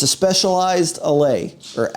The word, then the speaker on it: Allez: It's a Specialized Allez, or Allez. It's spelt A-L-L-E-Z.